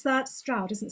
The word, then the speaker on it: Stroud: I never know how to pronounce that. Stroud, isn't it? Stroud, yeah.